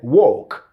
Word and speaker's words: walk: pronounced this particular word he said walk walk walk and that's the british standard okay the rp standard the long or sound you walked into a